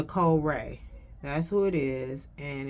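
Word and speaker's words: Wray: Well, I can't find it, but it's a song by Nicole Ray. And Ray is spelled W-R-A-Y.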